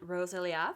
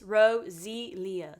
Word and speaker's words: Roselia: I'm going to react to the band Roselia. I hope I'm pronouncing that right and I'm going to react to their song Fire Bird.